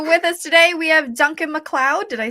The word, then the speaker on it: Duncan MacLeod: great um so with us today we have Duncan McLeod did I say it right yes you did